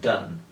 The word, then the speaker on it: Donne: poesía y me encanta la manera en que dan aborda el tema empecemos con el nombre de dando se deletrea de nn pero queda bien claro que si se pronuncian tan y lo interesante en inglés es que hay